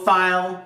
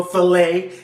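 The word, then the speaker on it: filé: a little bit of gumbo file which we're going to put in later or gumbo filet if you want to say it correctly some coar black pepper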